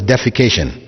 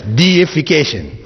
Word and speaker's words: deification: By deification, those of you who may have difficulty reading that word in English, please don't pronounce it as defecation, right? Because that has a whole different meaning altogether. Right? It's deification, which means making something or someone a god.